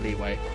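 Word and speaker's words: Liyue: The only reason I remember Leeway is because it's spelt weird. It's spelt with a Y, and it's pronounced with a W.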